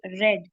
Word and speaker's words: read: We have to say read, not read. Although the spelling of both read and read is same, but when we talk